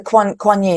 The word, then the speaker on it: Kuan Yin: The Kuan Yin.